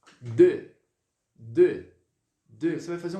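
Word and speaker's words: deux: esse é o número um vamos lá 2 de de de de vai fazer um leve biquinho daqui e vai pronunciar como se fosse a questão lá do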